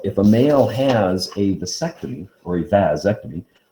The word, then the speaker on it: vasectomy: people don't recognize because when we say vas deferens we put the stress on the a that's okay whereas when you put vaz and ectomy together they move the stress in the word and they put it on the e and they call it a vasectomy okay that's where people